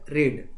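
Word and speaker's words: read: पढ़ना इसको हमने क्या बोला इसका प्रोनंसिएशन किया रेड लेकिन इसको फिर वही लिखूंगा पास्ट टेंस आर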